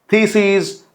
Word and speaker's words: theses: जब कभी भी आई एस से ईएस जब प्लूरल बनता है तो फिर प्रोनाउंसिएशन में लॉन्गर साउंड होगा.